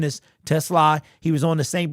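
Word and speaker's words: TeSlaa: Isaac Tesla, his the correct pronunciation is Tesla.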